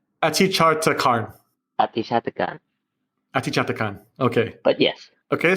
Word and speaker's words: Atichartakan: I'm going to mess up your last name, so you got to help me with the pronunciation. Atichartakan. Atichartakan.